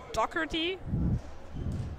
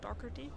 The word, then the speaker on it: Doherty: Dan Doherty. I hope that is pronounced correctly. Don't know, Doherty.